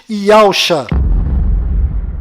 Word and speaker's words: Yahusha: A pronúncia do nome de Josué deve ser Yahushua, e a pronúncia do nome do Messias é certamente Yahusha.